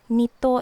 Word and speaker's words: nito: For the pronunciation, it's like nito is a hard E sound, nito.